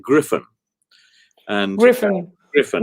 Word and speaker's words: Gryphon: to say to you we pronounce it griffin and griffin griffin not